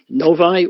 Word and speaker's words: Novi: the convention is going to be so it's Novi although we pronounce it for the name of the show